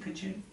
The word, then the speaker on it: Kacheri: Is that how you pronounce it, Kacheri? Kacheri.